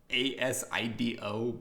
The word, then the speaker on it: ASIDO: My song of the week this week, though, is it's spelled out ASIDO, but it's actually As I Do, but all one word, by Purity Ring.